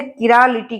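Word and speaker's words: chirality: बोला कि हमें पहले किरालिटी को देखना है व्हाट इज किरालिटी बराबर इसको चिरालिटी ऐसे स्पेलिंग है तो व्हाट इज चिरालिटी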